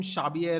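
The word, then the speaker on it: Xabi: So they have spelled his name Shabier Alonzo with a B. That's why it's pronounced shabi.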